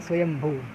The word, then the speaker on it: शंभू: कहा गया है और शिव का एक नाम है शंभू इसका शुद्ध उच्चारण है स्वयंभू मतलब उसे कोई प्रकट